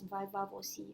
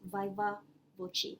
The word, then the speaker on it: viva voce: So some might pronounce it as Viva voce, but some pronounce it as Viva voce. But if we pronounce it in English, normally people will pronounce it as Viva voce.